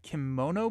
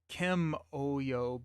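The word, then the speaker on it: Kimoyo: Kimono beads? I don't think there's an N in there. Uh, Kim Oyo beads.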